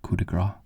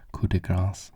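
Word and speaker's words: coup de grâce: I said coup de grace in one of my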